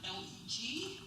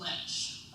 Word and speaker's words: LEG: a real political insider if they see the word L-E-G and they pronounce it ledge. Most of you would pronounce it leg, but it's short for legislature.